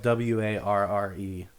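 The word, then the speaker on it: Warré: where they were at war with each other to fight after the queen. Yeah, it's spelled W-A-R-R-E. Yeah, it could be were or war. I think it's war, but number 5, buy a Langstroth hive.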